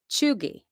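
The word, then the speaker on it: chugy: this word it's slang it's spelled c h u g y and it's pronounced chugi chugi and you know what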